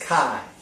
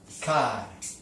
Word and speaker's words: chi: It's pronounced Chi. I'll put that in here. Chi, the long I.